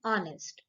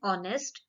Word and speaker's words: honest: Remember this thing, children, that we use an before are and honest. When we pronounce these words, H is silent. For example, Mr. Mehta is an honest man.